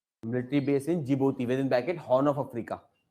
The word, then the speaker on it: Djibouti: Next, military base in Djibouti. It is in Horn of Africa. It's a country. Military base in Djibouti. D-I is silent. Military base in Djibouti, within bracket Horn of Africa.